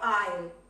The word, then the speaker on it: aisle: Yes, a window or aisle? Ojo la pronunciación de aisle, no aisle, aisle.